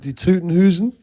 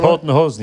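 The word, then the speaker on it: Toten Hosen: Die Tutenhusen? Was that right? Tottenhosen, yeah.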